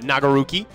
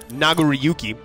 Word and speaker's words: Nagoriyuki: I quite like uh nagaruki um because I don't uh nagoriyuki I'm uh not putting all the syllables in there I don't think but uh nagoriyuki is